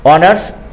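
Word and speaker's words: honours: 2 নম্বরে ছিল হি is dash, বোঝাই যাচ্ছে না, হি is dash অনার্স graduate, এখানে অনার্সে ওর উচ্চারণটা আসে নাই, এইচের উচ্চারণটা আসে নাই, এখানে এইচ আনইউজড, সো এখানে এইচ বাদ দিলে ও থাকে, ও যেহেতু ভায়েল তাই এখানে হবে এন।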